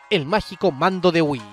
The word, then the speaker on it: Wii: que significa nosotros, y que se pronuncia igual que Nintendo Wii, por lo que al final la traducción oficial al español quedó como "Wii queremos jugar".